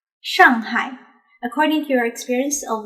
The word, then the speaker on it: Shanghai: public alright next one to practice this sound all you need to do is to simply remove the voice when pronouncing you got it now you can use standard mandarin to pronounce shanghai shanghai according to your experience